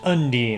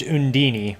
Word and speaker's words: Undine: Undine the elemental water I guess in this translation it's pronounced Undine I thought it was pronounced in Dini but I guess not coz Undine II